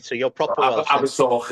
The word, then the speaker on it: Abersoch: Abersoch is pronounced, but I'm doing that for the English listeners, the Abersoch, yeah.